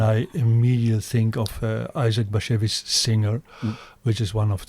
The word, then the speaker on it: Bashevis: It's Bashevis. And it's not hashish.